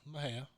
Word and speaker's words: Mexia: Back in the big town of Mahia, there's not Right. a lot going on around there. How do you spell it?